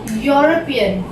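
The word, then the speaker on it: European: उच्चारण पे ध्यान दें, यूरोपियन, य से फिर स्टार्ट हो रहा है, यहाँ पे ई लिखा है, लेकिन अब जब हम बोलते हैं आवाज कैसे आ रही है? य की, यूरोपियन।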